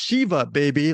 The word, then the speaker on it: Shiva Baby: That was you're not the one who mispronounced Shiva, baby, like I did.